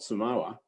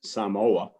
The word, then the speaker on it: Samoa: children from new zealand samoa and it was only since i started working at parkville that i learned that it's not samoa it's samoa and i'm very quickly